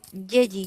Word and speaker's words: Yeji: Eh, Hermana Yeji, no sé cómo se pronuncia. Ah, Yeji. Oh, ¿Yeji es su nombre? Así se pronuncia.